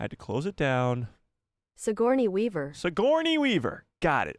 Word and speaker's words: Sigourney: How to pronounce Sigourney Weaver. I had to close it down. Sigourney Weaver.